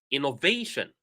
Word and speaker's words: innovation: So innovation, innovation, innovation. Which syllable did I stress?